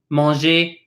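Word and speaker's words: manger: example moji voyage ii these ers at the end of the word says 8/8 kind of like when you say the alphabet in English the very first letter of our alphabet is a very similar to that a mangy voyage II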